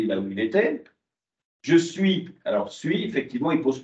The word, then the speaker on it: suis: Je suis, alors suis, effectivement, il pose problème parce que le dernier S ne se prononce pas.